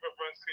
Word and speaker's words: Brzezinski: You know, Andrew Brzezinski? I know I messed his last name. What's his last name? Andrew Brzezinski, you said it right.